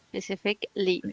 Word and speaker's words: specifically: when they end like that Ali we just pronounce the LI so we finish specific specifically perfect specifically that's good it's like another word